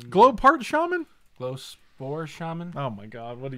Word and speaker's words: Glowspore Shaman: You got the Glowpart Shaman. Glowpart Shaman? Glowspore Shaman.